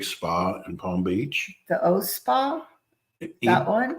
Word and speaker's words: Eau: The O Spa, that one? EPU. It's not, doesn't sound the way it looks how it's spelled. EAU, the O Spa.